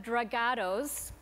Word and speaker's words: Dragados: a jury is now Executive Vice President of dragados that's how I was told that's the proper pronunciation construction and Engineering giant uh best known